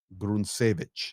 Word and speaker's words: Hryntsevich: his name is Nazar gruneich and I know it's an H but it's pronounced with a G call sign ginka 21